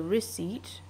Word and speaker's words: receipt: okay and uh the receipt p is silent the receipt the receipt